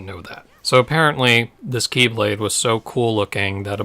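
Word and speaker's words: χ-blade: x-blade because it's pronounced Keyblade because its first letter is the Greek letter for ki which looks like an X because there's a lot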